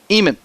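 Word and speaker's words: Eheman: designated player Megan Eman Eman spelled e h e m a Ann pronounced Eman 0 and one on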